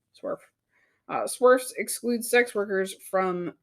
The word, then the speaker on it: SWERF: SWERF is an acronym for sex worker exclusionary radical feminist, pronounced SWERF.